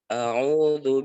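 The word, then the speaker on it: أعوذ: betul nih semuanya, tinggal hamzah yang awal itu agak sedikit dibuka mulut tak. Jadi agak tertutup agak persiapan kayaknya ke huruf u. Jadi agak buka sedikit a. A'udzu billahi minasyaitonir rajim.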